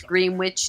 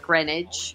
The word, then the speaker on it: Greenwich: You know, it's Greenwich, not Greenwich. Say it phonetically.